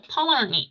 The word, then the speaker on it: permanently: 발음이 네, 원래는 피 발음을 잘 안 해서 permanently 이렇게 말을 합니다.